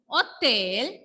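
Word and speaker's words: hôtel: In these two words, I didn't pronounce H.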